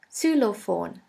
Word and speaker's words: Xylophon: xylophone is very similar in german we say sulophon su law phone the next letter is